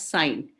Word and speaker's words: sin: to p by s we pronounce it as sine but it is s i n sine a is equal